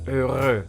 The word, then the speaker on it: heureux: So let's look at the word heureux. Again, we can pinpoint some pronunciation rules. The first thing that you will notice is that it has the combination EU in it. And this always becomes an E.